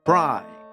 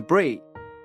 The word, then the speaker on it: Bree: Someone who I pronounced as Bri throughout the first email, so my sincere apologies to Bree.